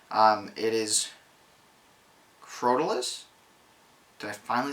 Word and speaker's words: Crotalus: It is Crotalus.